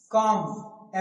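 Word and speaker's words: calm: मतलब क्या होता है आधा होता है ठीक काम एम से पहले भी एल साइलेंट है काम का मतलब शांत बिलकुल शांत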